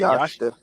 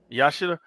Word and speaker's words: Yashida: Yashita. Yashida.